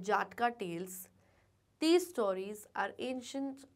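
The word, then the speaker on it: Jataka: बहुत लोग इसको जटाका टेल्स बोलते हैं, but that is the wrong pronunciation. The right pronunciation is जाटका tales.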